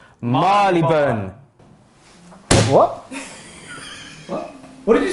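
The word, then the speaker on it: Marylebone: would you say this how i used to say it was mary lee boner but how it's actually pronounced guys is marleyburn what what what did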